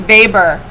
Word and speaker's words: Weber: amongst catholics first protestants looks like weber but pronounced vapor real quick what would